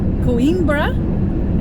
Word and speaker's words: Coimbra: We just left Coimbra.